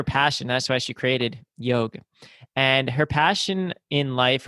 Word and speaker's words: Yogue: And she founded her company, Yogu. Is that how you say it? Y- Yogu? it's like Yogue, like Vogue, Yogue.